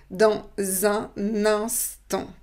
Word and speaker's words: dans un instant: Et ensuite la voyelle, donc dans un instant. Donc vous voyez la consonne, on la prononce dans la syllabe suivante avec la voyelle. Dans un instant.